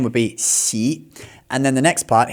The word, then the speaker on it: Xi: His surname is Xi, which it starts with X. And the X sound in Chinese, to give you a very basic explanation of this sound, it's like halfway between a sh and a So, you can literally try this with your mouth. First, go sh and then go s and then go halfway in between.